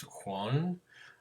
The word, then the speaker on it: Joan: His name is Juan Miro. It is spelled Joan, but it is pronounced Juan.